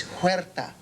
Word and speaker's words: Huerta: No, it's Huerta. Ricardo Huerta. Oh, yeah, no, it's spelled like Huerto, but they couldn't be right because it sounds too much like weirdo.